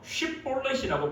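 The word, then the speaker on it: שיבולת: 길르앗과 에브라임의 전쟁에서 마지막으로 요단강 나루터에서 사람들을 딱 보낼 때 너 쉿볼렛이라고 발음해봐라.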